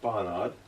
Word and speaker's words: Barnard: But I think it's pronounced Barnard.